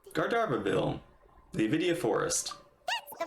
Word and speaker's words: Gandharvaville: Klee is pronounced Gardarvaville.